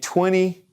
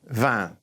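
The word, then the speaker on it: vingt: And 20. 20. 20. Okay, and I is going to have an sound, N in the nose. Don't pronounce the T. It's a long word for one sound, which is 20.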